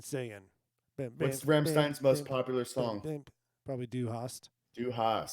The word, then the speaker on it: Sonne: Yeah, they don't pronounce it like that probably. It's son. I think it's son. I don't know. Da Here kommt die Sonne. Yeah, it's Sonne.